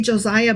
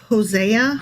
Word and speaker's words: Hosea: I keep wanting to say Josiah, but it's Hosea. Hosea. Hosea. Hosea chapter 1.